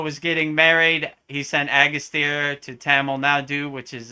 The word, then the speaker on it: Agastya: Agastya.